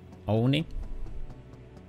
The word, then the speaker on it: Oni: We have Oni, that's how you say it, that one.